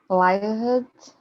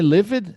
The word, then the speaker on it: lived: Lived, arrived. E eu sei que o ED não vai em todas, você não lembra. Lived. Mas é livid? Não, é lived. Repara, vai direto, right?